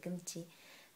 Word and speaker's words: Gumzzi: online shopping mall called gchi that's that's in Korean like they say gchi but um it's spelled